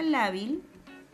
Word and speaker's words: lábil: Porque la palabra lábil lleva la mayor fuerza de voz en la penúltima sílaba.